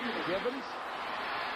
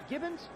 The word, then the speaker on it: Givens: When Givens first came into the league, Minifield purposely would not pronounce his name correctly. He'd say, what's his name? He'd say, Ernie? No. What's his name? Gibbons? Is it Gibson? Who is it?